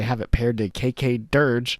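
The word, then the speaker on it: Dirge: KK Dear Dear Gay Durge. KK Durge. See, now I now I know how to say it correctly.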